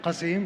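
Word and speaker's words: Qassim: dish uh Dunes of kazim because the sukari dates they come from kazim and if my pronunciation is right kazim yes kazim is good and uh that's what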